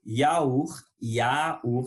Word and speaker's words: yaourt: Continuons avec le yaourt. Le yaourt, c'est pas ja comme en espagnol qu'on dit yogur, sinon c'est le yaourt.